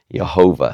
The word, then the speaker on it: Jehovah: And so instead of reading, if you read it out with all the pointing of the vowels, you would read Yehovah. Jehovah. So Jehovah comes from a mix between the consonants of Yahweh and the vowels of Adonai. And that's how we get Jehovah.